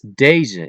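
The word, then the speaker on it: deze: This is deja if it concerns du and it's um spelled as d e z.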